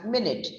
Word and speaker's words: minute: that you already know it's pronounced as minute m-i-n-i-t but did you know